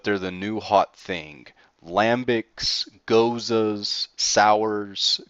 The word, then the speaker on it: Gose: Lambics, Gozas, Sours. Goza is spelled Gose, just for the record.